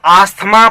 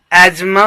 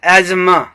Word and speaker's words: asthma: लोग आस्थमा पढ़ते हैं गाइज। जो मैं फोनेटिशियन हूँ, तो आप करेक्ट प्रोनाउंसिएशन एजमा होता है, एजमा, आस्थमा नहीं।